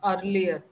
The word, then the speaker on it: earlier: And Not not earlier, it's earlier. yeah, earlier. Just earlier. R is silent.